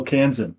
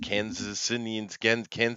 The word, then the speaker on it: Kansan: And I got to show up and support one of my fellow Kansan.